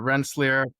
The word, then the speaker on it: Rensselaer: So sometimes I even butcher it, but Rensselaer Polytechnic Institution.